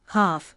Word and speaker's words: half: The letter L is silent in could, should, calm, half, talk, palm, walk, salmon, and chalk.